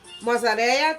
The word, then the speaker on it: mozzarella: Okay, I'm going to be using some mozzarella cheese, if I pronounce it properly. Mozzarella. I think the double L pronounced like a Y.